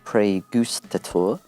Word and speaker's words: Praegustator: cusp of releasing your newest record which is pre Goose tour correct yes correct pronunciation yeah good job excellent and then that's